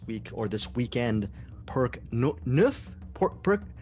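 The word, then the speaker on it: Neuf: He's renamed himself this week or this weekend Perk Nuff. Nuf, N-E-U-F? Is that how you say it? Nuf, I'm hoping. Yes.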